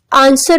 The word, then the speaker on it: answer: आंसर में W silent है.